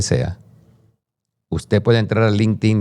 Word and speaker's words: LinkedIn: Pero en el lado positivo si hay si hay redes como LinkedIn, hay gente que lo llama LinkedI in porque se escribe LinkedI in, pero es LinkedIn, donde yo eh pertenezco.